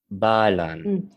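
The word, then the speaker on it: Ba Lan: Balan.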